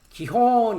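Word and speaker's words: גיחון: 기혼이라고 히브리어도 발음을 합니다. 기혼이라는 것은 터져 나오는 것입니다. 1521번인데요. 예. 기혼 이렇게 돼 있죠.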